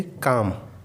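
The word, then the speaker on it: calm: L silent कब होता है? जब कभी भी एल के बाद एम आ जाए तो एल साइलेंट हो जाता है। जैसे काम, बाम, आर्म्स।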